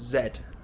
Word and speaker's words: zed: a vase and lastly the last letter of the alphabet British people pronounce it Zed whereas Americans pronounce it